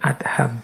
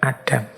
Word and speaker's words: Adham: syekh Ibrahim bin adham membacanya memang bin adham bukan bin Adam nama lengkap beliau Ibrahim